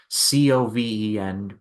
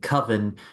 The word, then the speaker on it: Coven: He instead pivots to his old short film called Coven, and it's spelled Coven, but he does not like pronouncing it Coven because he doesn't like his title rhyming with oven.